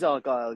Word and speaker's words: Argylle: Argylle, If you were Scottish, I think it would be called Argylle, so you kind of accent the G of Argylle. But everybody else pronouncing it Argylle with the accent on the A.